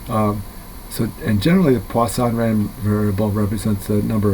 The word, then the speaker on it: Poisson: It's spelled like poison, but it's pronounced Poisson.